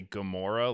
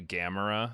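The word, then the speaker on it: Gamera: future uh Lizzie heard me say Gamora like 15 times in this recording and then afterwards let me know that I was saying it wrong and it's actually gamra so just want to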